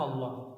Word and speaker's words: Allah: Cuma orang nyebut Allah itu enggak ngerti karakter bahasa Arab. Dalam bahasa Arab kalau awalnya A bacanya Allah. Kalau lillah.